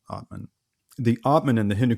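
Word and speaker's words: atman: is the idea of what's called the otman the a t m an is how it's spelled otman the otman in the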